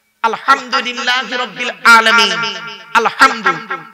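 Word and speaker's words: الحمد: আলহামদু এই গলার ভেতর থেকে হেটা উচ্চারণ করবেন, বাপেরা হাতে ধরে বলে যাচ্ছি।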